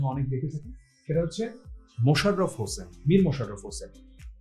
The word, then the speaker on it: মশাররফ: আমার স্টুডেন্টদের মধ্যে অনেক দেখে থাকি সেটা হচ্ছে মোশাররফ হোসেন মীর মোশাররফ হোসেন তো এখানে কিন্তু তিনি যেটা লিখতেন তিনি যেভাবে বানানটা সেটা কিন্তু হচ্ছে মশা মশাররফ তো মনে